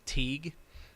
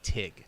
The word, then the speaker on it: Teague: yeah um i've been like i have been pronouncing it teague teague giving it the real because i think